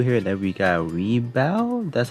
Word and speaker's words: Rebawoo: So we have Bolt Gundam over here, and then we got Rebawoo, that's how you pronounce it, and then we got one of the drones over here.